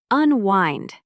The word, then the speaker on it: unwind: Unwind. The stress is on the second syllable.